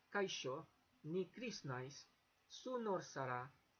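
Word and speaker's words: zu: like the Latin American so it's more like an English s so su means you lord sera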